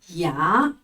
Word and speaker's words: 牙: 咿啊牙，咿啊牙，牙齿的牙，牙齿。